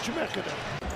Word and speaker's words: Chemeketa: Just Chemeketa.